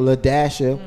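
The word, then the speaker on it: La-Dasha: We talked about how there was a chick named LaDasha, and the dash, the hyphen is silent.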